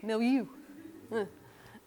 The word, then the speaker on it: milieu: I had to even look up how to say it, and it's milieu.